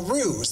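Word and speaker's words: Roos: that can't be right is that how it's spelled r o o o ruse like kangaroo like ruse handmade Goods okay ruse R oos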